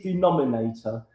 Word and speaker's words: denominator: But it is denominator. D E N O Min I N A T O R. Denominator. Okay. So, syllables denominator. Five syllables.